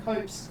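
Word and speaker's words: copse: from here uh no the editor is correcting M's pronunciation and spelling copes copes are trees c o p s e what you mean I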